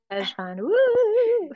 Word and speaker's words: Cheshvan: get beautiful month of hesan the thing is the thing is the see is silent so when I first looked at this I'm like is that Shon Von okay and uh you